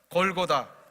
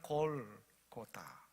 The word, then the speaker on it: 골고다: 골고다, 이것은 이제 헬라어인데요, 아람어에 골골타라고 하는 단어를 헬라어로 이렇게 바꿔서 발음한 것입니다. 해골의 장소라는 뜻입니다. 골쿠타, 원래는 이렇게 발음을 해야 되는데 헬라식의 표현으로 한다면 이렇게 골고다라고 표현이 된다는 거예요.